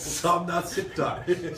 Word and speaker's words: Somnath Sikdar: There's 2 syllables. Somnath, Sikdar.